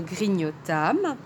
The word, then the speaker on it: grignotâmes: Et le passé simple, c'est ce temps un peu bizarre qui se prononce âme à la fin. Nous grignotâmes.